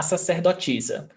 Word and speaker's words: sacerdotisa: And you see that the A is pronounced as the aspiration, seh, but it can also be ser, depending on the accent. So you can say sacerdotisa, that's how I pronounce, but you can also say sacerdotisa, ser, and sacerdotisa as well.